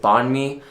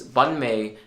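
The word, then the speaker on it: bánh mì: for bread in Vietnamese, Banh, or some people pronounce it Banh mi, like without the tones, but with the tones.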